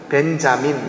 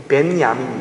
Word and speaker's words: 벤야민: 그 벤자민 이렇게 발음을 영어로는 하는데, 이 벤야민, 야민이 이게 오른손이거든요.